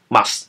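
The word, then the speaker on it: MuQSS: 到这个 NUQSS，依据作者的想法的作者的说法它是念成 MUX。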